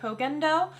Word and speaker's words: Koh Gen Do: one of them so i don't know if you guys pronounce it as co Gendo that's the way i say it but I've heard some people say Cogan doe so you let me